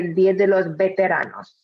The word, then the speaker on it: Día de los Veteranos: keeping in mind that for the pronunciation that some Spanish speakers, the V, they pronounce more like B, so they would say Día de los Veteranos.